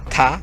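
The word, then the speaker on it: Ptah: lista de estos dioses uno se llama ta que se escribe p t a H eh que creó el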